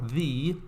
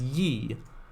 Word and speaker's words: Ye: Because if you say ye or the, it's very similar. But it was still pronounced as the.